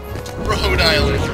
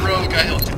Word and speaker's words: Rhode Island: Rhode Island, not Rogue Island.